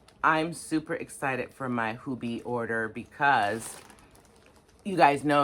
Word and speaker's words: Hobbii: Okay, so next, the next one that came was from how we say here in the States, Hobbii, how they say it over in Denmark, Hobbii.